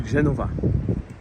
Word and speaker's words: Genova: right here Aquario the Genova so I have to give a big disclaimer in English uh we say Genoa Genoa uh but in Italian it's Genova with a v um for the context